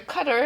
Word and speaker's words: Qatar: just some point out some things here's the United States this peach colored lime here's Qatar I can't say cutter I guess it's how it's pronounced as close as I